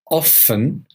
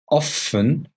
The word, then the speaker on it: often: correct you can say often often how often or you can hear the T how often how often